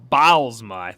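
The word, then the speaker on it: Bylsma: Bilsma. Bilsma? I didn't know how you pronounce Bilsma, yeah.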